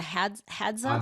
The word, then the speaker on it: Hadza: Is it the Hadza? Is that how you say it? Hadza.